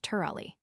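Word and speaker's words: Tirawley: by that king's name, Tur Amongid, which is pronounced Turali.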